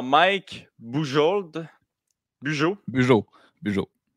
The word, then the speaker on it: Bujold: aussi un à mike bujold du joug jo bio j ol d c'est toujours comme ça quand mike budget peut-être que certaines prononce bujold en ce temps bay -